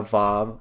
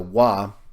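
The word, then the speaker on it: ו: shows clearly once again the difference between a bob a wah it's pronounced spoken of as evolved by many people who speak Hebrew today but in ancient times it was a wah and so look here I'm showing you a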